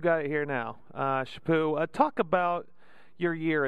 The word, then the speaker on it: Chaput: say your last name it's a shapoo with no no tea at the end and no uh infas on the cha or it's shapoo shapoo all right we've got it here now uh shapoo uh talk about your